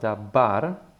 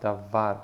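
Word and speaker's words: דבר: Okay, so the middle letter is V, and it's not pronounced dabar with a B, but with a soft V, davar, because there is no dagesh in it, or that dot in the center of the letter.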